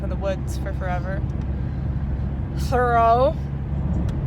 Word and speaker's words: Thoreau: Thoreau. Is that how you pronounce his name? Yeah. Okay, good.